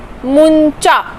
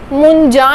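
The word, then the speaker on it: 문자: नियन का एक्सेप्शन देखते हैं, मुंचा। इसको हम कैसे प्रोनाउंस करेंगे? मुंजा नहीं, मुंचा।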